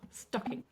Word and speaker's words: stocking: Stocking. This is where he's going to put the presents in the UK anyway. Two syllables, we're going to stress on the first syllable, stocking.